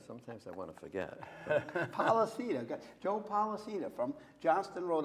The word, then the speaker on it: Polisena: Polisena, Joe Polisena from Johnston, Rhode Island.